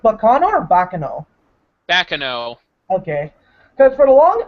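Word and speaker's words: Baccano: But is it pronounced Bacano or Bacano? Bakano.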